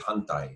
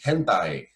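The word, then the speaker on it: hantai: uh in japanese karate there's the word huntai which means like switch reverse from left hand to right hand and somewhere along the line i started mispronouncing that and was saying hentai and hentai in japanese is a pervert and so that led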